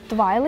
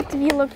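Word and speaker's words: Twyla: А, вон еще есть Твайлы или Твилла, кто как называет.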